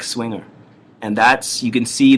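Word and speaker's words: Zwinger: a bar that's called swinger it's Pro it's z w i n g e r it's pronounced swinger it's like swinger and that's you can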